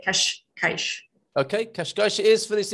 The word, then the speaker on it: Cascais: said so it did my s turned into an h very quickly when i first got